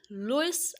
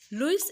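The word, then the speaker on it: Louis: बात का ध्यान रखिएगा लुईस एक फ्रेंच वर्ड है बेसिकली इसे फ्रेंच में लुई कहते हैं एस साइलेंट है तो इट्स अप टू यू आप इसे लुईस प्रोनाउंस करें या लुई प्रोनाउंस करें नाउ द पोयम ई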